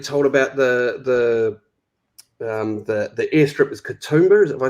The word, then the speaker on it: Katoomba: I mean, the story that you told about the airstrip is Katoomba, if I said it right?